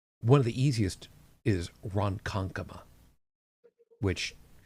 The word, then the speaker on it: Ronkonkoma: One of the easiest is Ronkonkoma, which actually is spelled the way that you think it should be spelled.